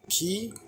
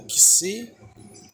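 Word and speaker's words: xi: Temos o ki ou kisi, tem essas duas pronúncias, ambas estão corretas.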